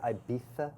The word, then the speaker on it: Ibiza: I was in Ibiza. Ooh. I was in Ibiza. struggling. And I think they actually call it Ibiza. Ibiza. Ibiza, Yes, yeah. that's the proper way to say it.